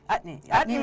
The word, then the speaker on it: Utne: Utne rhymes with chutney.